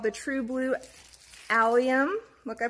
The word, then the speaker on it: allium: have another one it's called the true blue allium look I pronounced it right and these these are a